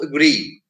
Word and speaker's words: agree: Or words ending in double E, E-E. Two E's. When words end in two E's, they are generally accented on the last syllable. So let's say something like agreement. So agree.